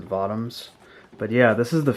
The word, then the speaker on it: Votoms: But yeah, this is from the Votms series, and I used to pronounce it Votams, but I'm for the rest of the video, I'm going to pronounce it Votms.